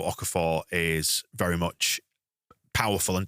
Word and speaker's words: Okafor: So depending on what sort of defence you're playing against or the fullback you're playing against, certainly Okafor is Okafor. Seemingly, that's how you pronounce it, because by commentating on LUTV, you get everyone telling you how to pronounce names, which is great.